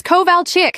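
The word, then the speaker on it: Kovalchik: It's Koval Chick, she shouted, slamming her hand on the desk. K O V A L C H I K. How hard is that?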